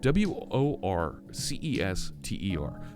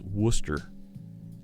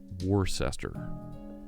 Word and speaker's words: Worcester: the Simeon says have a crack at wor CES ter now in Massachusetts that town is pronounce Worcester there's a township there's a town around here where I live where it's pronounced worse Esther ah whar sister sire sauce yeah Worcester that's